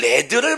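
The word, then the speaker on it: lead: 뭐 하는 것이 이것은 레드를 몰랐을까요 바로 나간 레드 라고 발음합니다 리드가 아니라 명사로 레드 라고 발음하면 은 나비 줘 나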